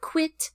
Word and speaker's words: quit: The word quit has a small, loose lips, quit, quit, where the word quite, quite, has a very tall, open mouth, quit, quite. Quiet is a two-syllable word, quiet.